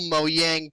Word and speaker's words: Mojang: You and your Mojang. I could well, that's the proper way to pronounce it because it's Swedish, you know.